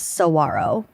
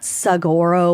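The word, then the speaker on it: saguaro: And it's basically joking about how it's definitely pronounced sarro and not sagoro or saguarro.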